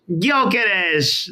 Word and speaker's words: Gyökeres: Gyökeres. We know it now. We know it. Victor Gyökeres.